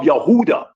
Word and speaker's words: Yehuda: sins like the descendants of Yehuda or Huda which is the true pronunciation of Judah.